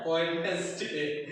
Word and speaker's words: Wednesday: হ্যাঁ, Wednesday। আচ্ছা, এটার সঠিক উচ্চারণ হচ্ছে Wednesday। এখানে ডি এর উচ্চারণটা হাইড থাকবে, সাইলেন্ট থাকবে। হ্যাঁ, ডি এর উচ্চারণটা সাইলেন্ট থাকবে।